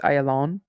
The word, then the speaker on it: Ayalon: oh thank you Judy yes friendly help on pronouncing Israeli place names with the accent on Hebrew on the final syllable so it's ayalon okay I'm I'm in